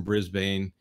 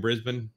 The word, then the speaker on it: Brisbane: from way down under I believe he's from Brisbane or Brisbane as they call it and uh